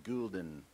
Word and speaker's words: gulden: Gulden, also pronounced gulden.